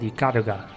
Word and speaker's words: Ikaruga: And yeah, as I said, Ikaruga, that's how it's pronounced.